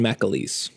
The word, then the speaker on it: McAleece: It's like if there's a an A between the M and the C.